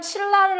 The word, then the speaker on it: 신라: 자, 그 다음 신라를 한번 볼까요? 얘는 지금 니은하고 리을하고 만나서 니은이 리을로 바뀌어서 발음이 됐죠?